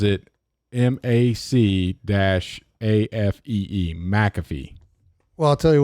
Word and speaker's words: McAfee: probably gonna have a commercial pronounce it mcafee pronounce it american macafee computer security software company headquartered in santa clara